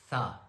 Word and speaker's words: ث: The makage of letter tha. Tha is pronounced from the tip of the tongue touching the inner edges of the top two front teeth.